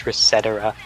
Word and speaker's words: ResetEra: chamber, just go to Reset Era. I never cared because I only saw the name on V, but I always thought it was Resetera. No, it's Reset Era. That's how they pronounce it.